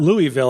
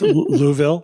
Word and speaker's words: Louisville: of 2024 here in Louisville right is it it's not Louisville I know that it's Louisville yeah it's like two syllables not louville sorry thank you I'm here